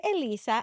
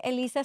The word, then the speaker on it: Elyssa: a native Spanish speaker, the correct way to say my name is Elyssa. Elyssa. Yes. Right. If you are a non-native Spanish speaker, you would normally say Elyssa. If you're a non-native speaker, then you would be saying it wrong.